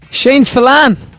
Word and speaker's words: Shane Filan: See, Shane hates when people pronounce his surname wrong. He's had Filan, he's had Filan, he's had something else in the past as well when I've been annoyed with him.